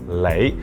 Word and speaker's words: 你: And similarly, when native speakers say 你, they usually put an L sound and they will usually say 你, which is why a lot of people mistakenly spell this out as L-E-I instead of N-E-I.